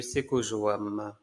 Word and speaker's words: Sekojoam: Hello, bonjour à tous et bienvenue sur la chaîne de Seko Joam. Ça se prononce bien comme ça.